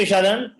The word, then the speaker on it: Shadan: Thank you, Shadan. And what's your name? Your name is Sadia or your name is Shadan? My name is Shada Sadia. N is silent, sir.